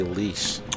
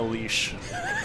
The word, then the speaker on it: Lesh: Lesh says, and yes, that's how you pronounce it. People always say leash. That's how you say it, Lesh.